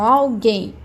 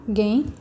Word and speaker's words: alguém: Então, alguém, alguém. A minha sílaba tônica vai ser a última, alguém. Então, o acento vai aqui. Falo alguém, não falo pra dentro, falo mais aberto.